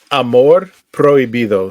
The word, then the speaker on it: Amor prohibido: rock and roll this uh how do you pronounce this song again um Amor prohibido so prohibited love oh like Forbidden Love forbidden